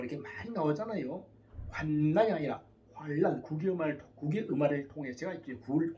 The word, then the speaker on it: 환난: 환난이 아니라 환란, 국의음화를 통해서 제가 이제 구를 잘 모르는데 쓸 때는 환난이라 쓰고 읽을 때는 환란으로 발음하여 주시면 좋겠습니다. 그럴 때는 사모님이나 누가 옆에서 자꾸 알려드려야 돼요. 목사님, 환난이 아니라 환란 이렇게 하셔야 됩니다.